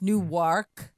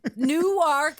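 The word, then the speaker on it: Newark: yes different delaware right that's how they pronounce it that way you have to say nuwark i think right i'm not even i have no idea i just pronounce words the right way no new ark and then there's new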